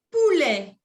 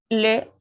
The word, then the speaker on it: poulet: Vous avez donc le poulet. Répétez après moi. Le poulet. Poulet. Non se prononce à la T.